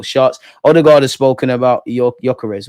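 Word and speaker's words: Gyökeres: Odigard has spoken about Yokarez or Goyarez as I think is the right way to pronounce it.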